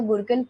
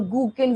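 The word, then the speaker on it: gurken: From the nucleus, the Gurkhan mRNA is formed and the Gurkhan protein is formed. Now this, you can pronounce it as Gurkhan or Gurkhan, whatever you feel like. I pronounce it like Gurkhan.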